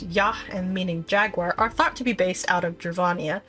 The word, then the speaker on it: Y: The Y tribe, pronounced Yah, and meaning Jaguar, are